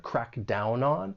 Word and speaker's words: crack down on: And when you pronounce this phrase, more linking may occur. We can link the final consonant sound in down with the vowel sound in on. crack down on.